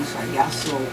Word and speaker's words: Sajaso: And I came out with the name Sajaso, which means salsa, jazz, and soul. Ah, okay, yeah, I was going to ask you about that. I think I've been pronouncing it wrong. Sajaso.